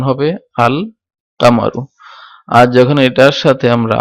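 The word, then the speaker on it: القمرُ: তো এখন এই এই এই দেখেন এগুলাতে একটু পার্থক্য, যেটা হচ্ছে আল কামারুর বেলায় আল উচ্চারিত হয়েছে এবং শামসের বেলায় আল উচ্চারিত হয় নাই।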